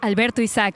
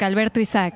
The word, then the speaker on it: Alberto Isaac: Guys, so I just learned that I can actually use my Spanish to pronounce Alberto Isaac's name. How does that sound?